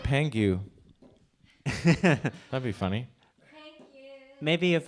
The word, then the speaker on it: Pang: I think it was Pang. It's like Chang, right?